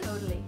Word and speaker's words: Caudalie: Pronounce it for me, because I'm always really bad. Caudalie? Caudalie.